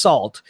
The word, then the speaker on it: NaCl: Krypton an ACL crypto in NaCl is pronounced salt because hackers just love